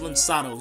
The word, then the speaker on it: Lançados: It's pronounced Lançados. You see that C, but it has like a little thing there under the C.